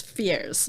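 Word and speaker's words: Firs: the character of fears it's spelled Furs but it's fears yeah like like the fur tree yes um he sees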